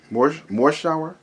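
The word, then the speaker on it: Morshower: Morshauer, I guess you could say Morshauer, Morshauer.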